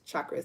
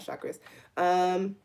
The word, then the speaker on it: chakras: It's chakras, not chakras.